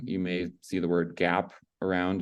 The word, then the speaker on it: GAAP: may see the word gap around it's that's gaap is pronounced Gap um and that stands